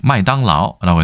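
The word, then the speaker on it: 麦当劳: 맥도날드 같은 경우도 그냥 보통화 그 중국의 그 북경 표준어로 들으면 마이당라오라고 해서 맥당 로라고 되어 있는데 마이당라오 하고 맥도날드 하고 크게 발음상 유사한 것이 아주 많지는 않은 것 같습니다.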